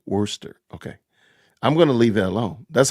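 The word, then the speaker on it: Worcester: say it again Worster Worster is how it's pronounce Worster okay I'm going to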